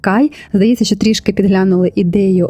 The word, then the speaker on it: KHY: сестрами марка отримала назву Ось так це пишеться читається як Кай здається що трішки підглянули